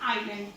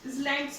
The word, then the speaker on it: island: तो इसको बोलते हैं आइलैंड. इसलैंड्स मत बोल देना कोई भी. ऐसे इसमें क्या होता है? साइलेंट होता है, इसलिए हम बोलते हैं आइलैंड.